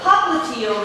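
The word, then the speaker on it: popliteal: we call this the poal region so this is your posterior knee and I always remembered that POA rhymes with heel so the POA is on the heel side also another thing that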